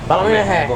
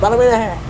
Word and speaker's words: Ballymena: On to station 854, Ballymena, or as the locals say down there, Ballymena Hair. Yeah. Ballymena Hair.